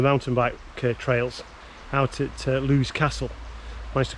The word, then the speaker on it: Lewis Castle: out on the mountain bike trails out at lou's castle nice to call it by its correct name today i have been calling in previous videos lewis castle it's actually pronounced lou's castle so yeah there's mountain bike trails all through